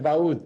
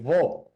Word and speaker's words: Vaud: El cantón no es Baud, es Vaud.